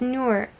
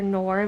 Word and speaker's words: Noor: going on, and sorry, it's Noor. It's not Noor. That was a note. She said that her uncle called her Noor, like Boar, and that's not how to say her name.